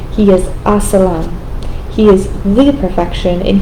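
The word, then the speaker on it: السلام: Assalam. Assalam. You don't really pronounce like a salam. You say it all together.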